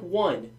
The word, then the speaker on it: -one: Now I know that looks like one. Please do not say one. It's pronounced "-one", like ketone, all right?